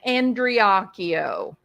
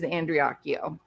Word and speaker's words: Andreacchio: the screen and yes his name is pronounced andreakio I don't know why after all these years people can't like get it to work get their mouth to work properly but it is andreakyo okay now then um